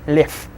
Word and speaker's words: лев: Лев will be pronounced as лев. Then the next one, снег, will be снег.